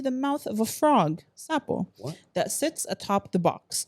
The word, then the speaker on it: Sapo: Pronounce what? Supple? Sapo, S-A-P-O, Sapo.